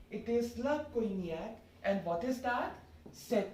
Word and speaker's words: cognac: Like it won't be cognac apparently. It's cognac. Cognac.